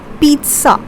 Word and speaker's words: pizza: you say it as pizza. See, the pronunciation, the second syllable when we are pronouncing this word, we are putting the stress over here and we say it as pizza.